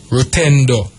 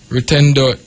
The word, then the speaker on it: Rutendo: a s you have another sh name rutendo rutendo is a male name you know and it means Faith it's spelled r u t e n d o